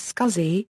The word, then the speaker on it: SCSI: intended to be pronounced sexy but dl's Dal Allen pronounced the new acronym as scuzzy and that stuck a number of companies